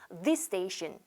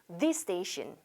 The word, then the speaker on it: this station: 자, 이렇게 똑같은 발음으로 끝나고 똑같은 발음으로 시작을 할 때는 두 번 발음하실 필요가 없고요. 자, this station 어려워요. 한 번만 발음해 볼게요. this station.